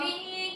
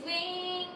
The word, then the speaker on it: VVINK: We are w to be wink. It's wink. It's pronounced as wink.